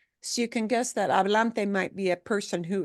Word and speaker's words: hablante: So you can guess that hablante might be a person who is speaking, right? And again, the pitfall we want to look at avoiding here is not pronouncing that H. Lache. Hablante.